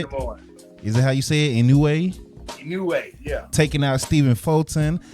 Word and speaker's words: Inoue: Inoue, yeah.